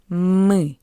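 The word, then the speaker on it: мысль: Mel and after L we have the soft sign. That's why L is soft.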